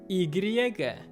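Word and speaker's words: y griega: taxi so this one basically means greek i igriega greek is so for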